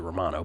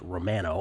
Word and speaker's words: Romano: But Romano, I used to pronounce it Romano, but when he played for the Blue Jays, they made it clear that his last name was pronounced Romano on the bump for the Phillies.